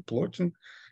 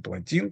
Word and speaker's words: Плотин: Но поэтому средневековый неоплатонизм – это вовсе не неоплатонизм античный, это не Плотин, не Плотин, точнее, да, правильно так ударение ставит, это не Ямблих, например, да, это не Прокл, это еще, я перечисляю более поздних неоплатоников уже 5 века.